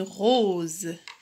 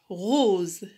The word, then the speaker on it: rose: Une rose. R-O, rou. S-E, Z. Une rose.